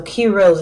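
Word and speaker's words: Kiros: ruby heroes you know it's a key and a rose so key rose if you know how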